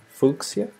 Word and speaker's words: fuchsia: It's also pronounced fuchsia. Hey, Jim. Fuchsia, yeah. Am I not saying it right, fuchsia? Oh, you mean like it's a long U, fuchsia?